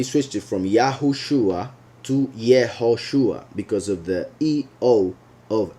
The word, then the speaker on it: Yehoshua: origin, and he will say that the true pronunciation is Yehoshua.